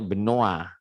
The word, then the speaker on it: Benoît: Ya, Benoît, ya, jadi itu bacanya enggak Benoît ya, Benoît. Nah itu ya, Benoît. Tulisannya Benoit gitu ya.